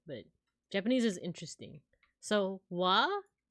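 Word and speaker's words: は: Japanese is interesting so w the one that is R is ha but it's actually like pronounced W it marks the topic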